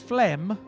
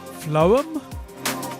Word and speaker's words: Phloem: It's PHLOEM, which to me is phlegm, but I know that has a GH in it. Phloem? Maybe it's phloem. I think it's probably not pronounced phlegm. We'll go with phloem, like poem, with an L and an H in it.